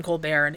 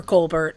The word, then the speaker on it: Colbert: you want to say Co Bear because it's just practice but uh it can be pronounced Col Bear or Colbert and he went with Col Bear and I guess I think some of his siblings went with Colbert.